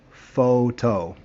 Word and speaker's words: photo: bit the same but pay attention to the letter o because it changes sometimes sometimes it's a long o o sometimes it's a soft o ah or uh ready first word photo photo both o's are long very easy second word